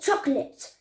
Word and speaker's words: chocolate: So chocolate, chocolate.